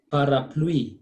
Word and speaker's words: parapluie: Parapluie. Lui. UI is we. So we say parapluie.